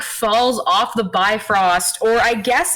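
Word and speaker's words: Bifröst: like falls off the bifrost or i guess in old norse it's pronounced biff rose um but when when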